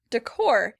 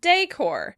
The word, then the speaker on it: decor: You'll sometimes hear some Americans who know that it comes from French say decor, but they'll still stress that second syllable.